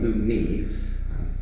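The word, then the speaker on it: Lumii: Ah, yes, this is a Luma, or as we call them, Lumi. L-U-M-I-I. L-U-M-I-I. I can spell it, I promise.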